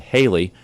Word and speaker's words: Haley: director Bob Johnson suggested Haley rhymes with Bailey take advantage of the